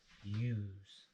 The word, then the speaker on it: use: You, use.